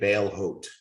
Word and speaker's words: Balehout: That's how you say it, Balehout. It's another one that's not spelled the way it sounds.